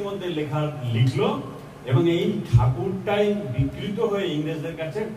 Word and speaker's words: ঠাকুর: বিলের মধ্যে লেখা লিখল এবং এই ঠাকুরটাই বিকৃত হয়ে ইংরেজদের কাছে টেগর। উচ্চারণের জন্য ওরা ঠ উচ্চারণ করতে পারে না। ড উচ্চারণ হয়। সেইজন্য ওই ঠাকুরটা হল টেগর। এবং এই টেগটাই উনি লিখলেন